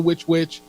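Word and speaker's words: Which Wich: different and and if people haven't been to witch witch and the way it's spelled by the way is wh I yep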